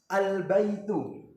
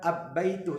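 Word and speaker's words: البيت: harus baca jelas contohnya Alba itu jadi huruf Al bertemu dengan huruf ba jadi cara baca dibaca jelas bukan abbaitu tapi Al baitu selanjutnya contoh selanjutnya Al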